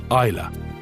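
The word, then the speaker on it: Islay: to its southernmost Island Isa the Y is silent 270 vessels have come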